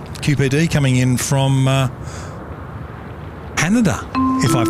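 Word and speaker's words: Haneda: we've got uh qpd coming in from uh hanada if I've pronounced that cor you did you did you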